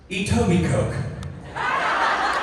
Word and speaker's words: Etobicoke: Etobi Coke. You're welcome. Good. Try it. Etobi Cookie.